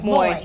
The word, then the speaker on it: Moye: So, we got you, Moyer. Moye. Yep, rhymes with toy.